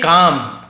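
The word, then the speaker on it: calm: याने बढ़ना होता रिमन काम काम याने होता है शांत एल को नहीं पढ़ेंगे कालम नहीं प काम शांत रहो रिमन या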